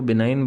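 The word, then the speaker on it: benign: अनुकूल रहा वह मेरे मतलब फेवरेबल बिनाइन बिना इंफॉर्मेशन के फेवरेबल रहा मुझे बिनाइन और इसको बिनाइन बोलते हैं बी इ एन आई जी एन स्पेलिंग्स याद कर लीजिए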